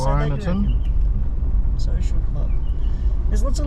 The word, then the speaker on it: Kyneton: Kyneton.